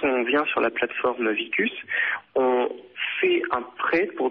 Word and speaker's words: Veecus: sont intéressés à faire un prêt solidaire, c'est-à-dire que quand on vient sur la plateforme Vicus, on fait un prêt pour développer le projet de quelqu'un.